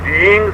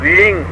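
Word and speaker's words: ह्रीं: इसमें पहला बीज उच्चारण की बात बता रहा हूं, इसमें पहला बीज रींग शब्द से संबोधित है। अर्ध हो अपने मन में बोला जाएगा, HREENG, रींग, रिंग नहीं है। मैंने HRING नहीं बोला है, REENG बोला है।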